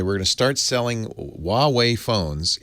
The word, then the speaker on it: Huawei: time ever they were going to start selling Huawei phones H by the way no one knows how to pronounce it hua WEEI Huawei all excited about selling this phone in